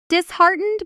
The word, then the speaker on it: disheartened: Disheartened by the rejection. Notice the stress pattern. Disheartened. you. The stress lands on the middle syllable on the word heart hiding inside it.